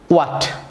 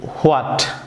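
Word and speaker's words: what: এখন আমরা ওয়া সাউন্ড দিয়ে আমরা সঠিক উচ্চারণ শিখে নিচ্ছি। আমার সঙ্গে বলুন, ওয়াট, ওয়াই, উইচ, ওয়েন, ওয়া। ভিউয়ার্স, আমরা অনেকেই এগুলি ভুল প্রনাউন্সিয়েশন শুনে থাকি। অনেকে বলে হোয়াট, হোয়াই, হুইচ, হোয়েন, হোয়া।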